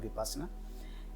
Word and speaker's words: Vipassana: Actual pronunciation Vipassana. In English it is called Vipassana.